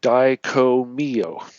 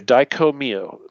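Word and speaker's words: Dai Ko Myo: also known as the Daiko-myo.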